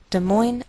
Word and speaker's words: Des Moines: indiana des moines iowa note that we treat the name of this capital like one word and the greater stress is on the second part so we say des moines des moines iowa and i believe